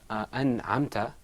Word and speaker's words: أنعمت: So whenever you have a noon sakina, like an'amta, followed by a ayn, you're going to pronounce the noon and articulate it completely.